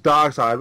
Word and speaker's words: Darkseid: First time I've said his name right. Darkseid. I want to say Darkseid, because that is how it's spelled, you know, and it's like, oh, it's Darkseid.